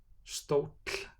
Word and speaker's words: stóll: For double L, the pronunciation is TL in all native words. Stóll, bolli, milli, tröll, páll.